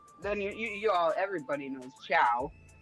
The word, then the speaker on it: ciao: It's almost like when you say whoop whoop, you say ciao.